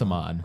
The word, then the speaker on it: Amon: I think it's Amon. No, it's Amon.